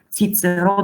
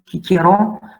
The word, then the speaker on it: Cicero: So they would pronounce C as K every time. So they're gonna say, instead of Cicero, they say Cicero.